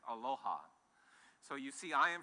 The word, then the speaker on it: Aloha: goes something like this Aloha it's actually two syllables the first syllable in Aloha is alow which means to give and ha means life so when I say